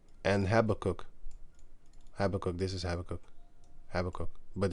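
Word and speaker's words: Habakkuk: This is Habacook. Habacook. But it's spelled from the Greek into the English.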